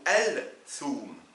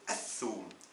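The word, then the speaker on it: الثوم: Est-ce qu'on dit as-thum ou al-thum? C'est as-thum. On ne prononce pas le al devant le tha.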